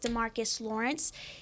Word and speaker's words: DeMarcus Lawrence: or a main guy I was thinking is Demarcus Lawrence he did I say his name right yeah